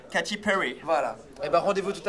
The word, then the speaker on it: Katy Perry: Voilà, qui se prononce connaît. À l'américaine. Katy Perry.